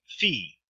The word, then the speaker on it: phi: following oops Alon comes fee fee is pronounced like a pH as in phase key which looks like